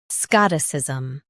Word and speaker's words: Scotticism: Both US and UK have the same pronunciation of this word, Scotticism. Now read the syllables shown on the screen naturally. Scott, Scotticism. Emphasize Scott and soften is.